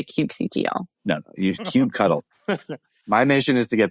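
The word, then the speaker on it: kubectl: how do you say I say Cube CTL and I don't think people like that that's not right it's Cube cuddle it's Cube cuddle is the right answer I think Cube control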